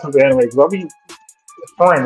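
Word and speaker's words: Frieren: I got like how how do you pronounce the anime? I mean friend, right?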